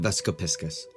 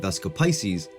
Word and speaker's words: Vesica Piscis: known as lasagna the vesap piscus some people pronounce it vesco Pisces but they're wrong now before you roll